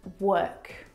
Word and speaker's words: work: the O R and you're trying to pronounce the vowel sound o like in door. But this is incorrect. The vowel sound is actually as in her.